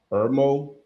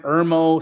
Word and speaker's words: Irmo: I'm not sure how to pronounce the name, but it's 225 Netherland Drive, Irmo, South Carolina.